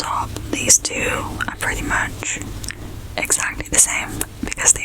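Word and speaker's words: 木: The first one, as you can see, the ones on the top, these two are pretty much exactly the same because they are exactly the same. And this one is pronounced as mu.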